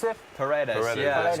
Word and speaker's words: Paredes: I mean, how do you pronounce it? Paredes.